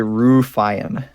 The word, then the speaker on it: Ruffian: he's in economy says ruffian ruffian i don't know how to say her name never will never do uh it's actually ruefian the first time i